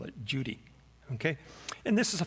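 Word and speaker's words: Cudi: u d i but the C in Turkish is pronounced with a J sound so we call it Judy okay and this is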